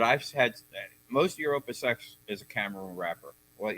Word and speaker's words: Opus X: Did you say open sex? Opus X.